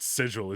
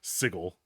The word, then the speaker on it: sigil: It's not sigil, it's sigil.